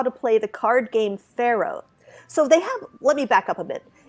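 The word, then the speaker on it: Faro: And one of the things, one year, these guys had that set up, and they were teaching people how to play Pharaoh, which is spelled F-A-R-O, which I did not know is what they're actually playing.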